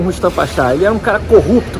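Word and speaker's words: Rüstem Paşa: A mesquita de Rustam Pasha, a pronúncia é Rustam Pasha, ela tem cada azulejo trabalhado, então é considerado obra de arte.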